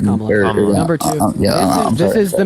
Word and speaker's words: Kamala: Number one, her name is pronounced Kamala.